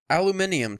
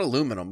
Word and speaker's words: aluminium: that's not gonna happen aluminium too that's another word that they pronounce right we pronounce wrong it's not aluminum because there's an i in there it's aldu aluminium minium not aluminum there's an eye so why would we say aluminum it's